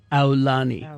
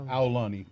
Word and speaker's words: Aulani: You pronounce it like ow, like you got hurt for Aulani. Aulani.